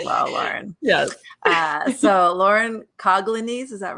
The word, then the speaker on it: Colonnese: So Lauren Colonnese, is that right? Colonnese is how we say it, but I am not particular.